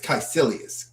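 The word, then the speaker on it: Kaecilius: You know how to pronounce it. It's Caecilius. Caecilius.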